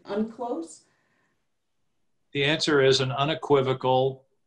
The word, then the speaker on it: UNCLOS: states ratify this treaty which is pronounced i think unclose the answer is an